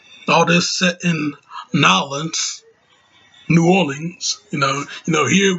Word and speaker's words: New Orleans: you know us yankees we call it new orleans but down there the locals of new orleans they call it a nylon so you know let's